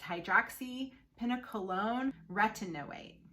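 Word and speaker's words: hydroxypinacolone retinoate: acid esters is something called hpr it is pronounced hydroxy pina colon retinoate so hpr is another name for it however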